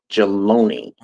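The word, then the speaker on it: Jaloni: Jaloney. Okay. Easy to read and easy to pronounce.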